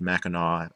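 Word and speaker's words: Mackinac: know that it's pronounced maau as if it was spelled with a W at the end people are not from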